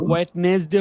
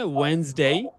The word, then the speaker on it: Wednesday: ওয়েডনেসডে হচ্ছে না, কি হবে? ওয়েনসডে।